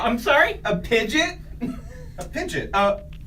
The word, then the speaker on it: Pidgeot: like uses like a Pidgeot just to commute to work. A That's- what? A Pidgeot? I'm sorry? A Pidgeot?